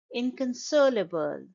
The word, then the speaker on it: inconsolable: its PS passing inconsolable it's a five syllable word as as you can see that I have underlined all the syllables uh in the phonemic script of this word and the stress is on the third syllable inconsolable and in can